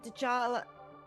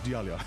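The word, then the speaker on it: Djalia: course the whole of Djal. Did I say it right this time? I think I think it's I think the J is a Y. So, it's Dalia maybe.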